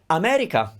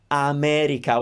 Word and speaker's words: America: again same sounds and look also america we are pronouncing all the vowels with the same duration i'm not saying america or i'm not gliding over any of those i'm pronouncing every vowel kind of with the same importance america alessandra alessandra that's